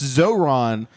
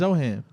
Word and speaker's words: Zohan: Holy Yeah, that's that's Zoron. Manny, why you got to say it right now? It's Zohan.